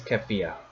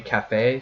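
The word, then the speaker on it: Kafei: Yep, I pronounce it as Kafia. Apparently it's supposed to be Cafe, who is the person wearing the Keaton mask.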